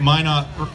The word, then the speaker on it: Minot: yeah you realize it that Minot rhymes with why not yeah and I know